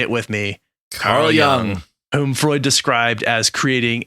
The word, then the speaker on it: Jung: sexual desire so basically young saying libido is everything i'll acknowledge right now that i've heard some people pronounce it jung so if you prefer jung or young it's spelt with a j so in america it's